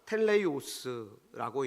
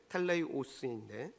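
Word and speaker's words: τέλειος: 여러분, 여기서 온전하라고 번역된 헬라어가 텔레이오스라고 읽는데, 텔레이오스인데, 육체적으로, 영적으로, 도덕적으로 생각이나 말이나 행동에서 조금의 흠도 없고 죄가 전혀 없는 완전한 그런 상태를 의미합니다.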